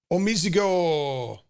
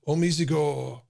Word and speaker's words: OmiseGO: here is omg omis omizigo you gotta say it right you gotta say it like a japanese right omizigo okay um you know